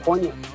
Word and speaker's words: poignant: pathetic 1000 boasting a silent G within it. This word has positive connotations like emotional and moving, though it's also just darn sad. Long, what is poin? That's right, poignant.